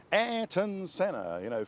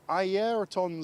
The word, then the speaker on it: Ayrton Senna: There was the classic story when Murray, having called him Ayrton Senna, for years, 1 year decided to call him, and here is Ayrton Senna, having been told by a Brazilian colleague, I think, that in Brazil they pronounce it Ayrton.